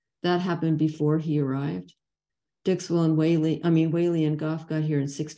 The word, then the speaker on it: Whaley: All the Whaleys I have contacted in England, Australia, and the US pronounce our name Whaley rather than Wally.